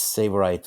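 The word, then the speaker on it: Tsavorite: Another Silicon Valley firm is Savorite Scalable Intelligence, that's Savorite with a silent T in the beginning, with what it called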